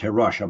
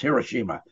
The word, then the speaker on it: Hiroshima: we dropped on here Hiroshima which is not pronounced here Russia that's Hiroshima and if you got American history over there